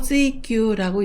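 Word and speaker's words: 追求: 그 다음은 추구라는 뜻으로 찌규라고 읽습니다.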